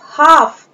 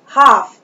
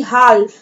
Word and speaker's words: half: Now spelling of half, HALF, half, in this spelling letter L is silent, इस spelling में letter L जो है वो silent है, इसे हम क्या पढ़ेंगे? हाफ, ना कि हाल्फ।